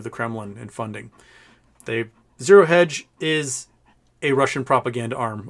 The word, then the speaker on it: Zero Hedge: daily mail oh did i say zero hinge not hedge zero hedge sorry i will mispronounce things